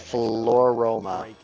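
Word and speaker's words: Floaroma: Floroma. Got it. Like aroma and floral.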